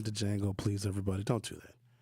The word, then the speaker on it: Django: And the D is silent in Django. Stop saying to Django, please.